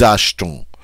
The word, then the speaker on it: achetons: See, because we can throw this T onto this next syllable of the ONS, and it actually sounds pretty nice. Nous achetons.